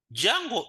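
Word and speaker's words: Django: the framework is is Jungle the D is silent now jungle is a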